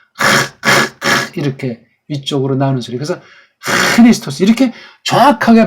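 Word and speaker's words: Χριστός: 카파가 되면 이건 크리스토스가 돼요. 카파가 아니잖아요. 카가 아니에요. 크는 틀린 발음이에요.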